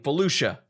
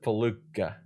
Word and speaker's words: Felucia: I'm gonna let Raph say it because apparently I, for like the last 25 years, have been saying it wrong because I've been saying Felucia, instead of Faluka.